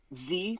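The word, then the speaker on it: Xe: because of PR huh Z print but it's spelled x-e for some reason because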